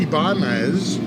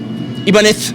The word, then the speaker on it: Ibanez: the Ibanez. Ibanez, you have. Apparently, it's wait. Someone from Spain said how to pronounce it. Ibanez. It's Ibanez.